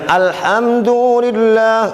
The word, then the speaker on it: Alhamdulillah: Bagaimana bacanya? Ditahan mimnya. Alhamdulillah.